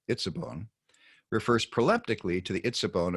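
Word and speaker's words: עצבון: Well, the first of the two nouns in word group number 2, and that's pronounced itzabon, refers proleptically to the itzabon of verse 17.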